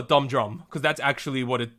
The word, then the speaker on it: Dumhdurum: the Korean I so it's dum de dum but it's actually like if we wanted to say in English let's call a dumb drum because that's actually what